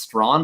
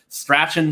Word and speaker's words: Strachan: I think it's pronounced Strawn, but I could be totally off on that. But whatever, Strachan, Strawn, Strachan, whoever it is.